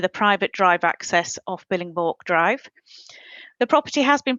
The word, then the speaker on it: Billingborg: the name of the road right, but I pronounce it as Billingborg, but I'm quite happy to change if that's not correct. It's Billingborg. It is Billingborg, right?